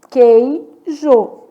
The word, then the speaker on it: queijo: Queijo. Quantas letras e quantos fonemas? Então, na palavra queijo, 6 letras, 5 fonemas. adígrafo, porque o U não é pronunciado, o U é nulo.